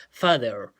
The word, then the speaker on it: father: fa tal cual y la th como una de luego se pronuncia tal cual y con esa ere tratando de hacerlo lo más gringo posible ya father ya tal cual como